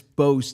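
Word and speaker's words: Mbow: told you about but Marcus mayo or Marcus bo b oh the M silence M silence I'm sorry I got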